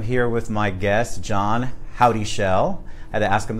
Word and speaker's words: Houdyschell: and I am here with my guest John howdy shel I had to ask him this morning I didn't want to pronounce it wrong CEO of trend aviation and